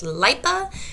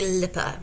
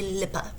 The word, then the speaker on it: LIPA: And yes, though we Americans would like to pronounce it LIPA, they say LIPA. So make sure you say LIPA.